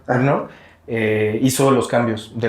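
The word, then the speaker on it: Murnau: y por eso Eh murn sí se pronuncia murn eh hizo los cambios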